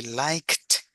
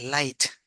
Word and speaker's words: liked: So what gringos does, or gringo do, I mean, they say light, light. Light. They don't pronounce the k, yeah, and they say just light.